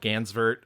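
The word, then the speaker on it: Gansevoort: a town near where I grew up called Gansver. Um that is absolutely not how you would pronounce Gansver in any other place in the world. It would be Ganzabort because that's how it's spelled.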